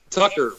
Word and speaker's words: Tucker: Tucker rhymes with fucker, Tucker, or you can do Tucker.